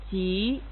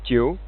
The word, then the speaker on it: 急: The correct pronunciation is 急 Most English learners would speak wrong like 酒 The system gives instructions